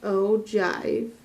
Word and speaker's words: ogive: is called Oh giv e oh this is pronounced ogive the names not in the book because our